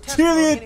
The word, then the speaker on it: Chiliad: Chiliad diye okunuyormuş. Chiliad diye okunuyormuş. Mount Chiliad diye okunuyormuş. Chiliad diye. Aaa çok rahatlıyım şu anda bunu nasıl okuduğunu öğrendikten sonra.